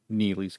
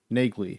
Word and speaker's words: Neagley: audiobooks, and I believe the pronunciation of her name is not Neely in the books, it's Nagley.